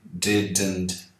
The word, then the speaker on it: didn't: Muita gente costuma pôr um som aqui depois do D, ó, do segundo D. Didn't. Não tem. Você fala did, mantém a língua no céu da boca, ó. Did, e já começa a falar o N. Didn't, didn't, didn't. A língua só bate uma vez, fazendo o D e deixa lá.